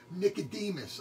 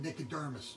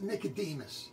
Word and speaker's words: Nicodemus: twice died once and like I said before Nicodemus I've mispronounced it the first time I said Nick the dermis yeah I saw that my bed I'm not